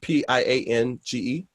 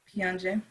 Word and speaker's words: Piange: Pronounce the word Piange. Piange.